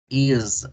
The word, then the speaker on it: is: ¿Con qué se pronuncia? Con Z. Entonces no es invento del profe, ¿verdad? Is, is.